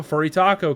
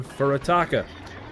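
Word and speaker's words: Furutaka: We have a Furitako coming out, or the Furitaka, you know, to actually pronounce it correctly, but, you know, we call it the Furitako because it's funny.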